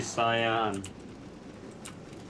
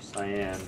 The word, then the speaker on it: cyan: You're really cyan. You're retarded. Or cyan. I don't know how you say it. Cyan. Cyan. Because it's a C and English language is stupid.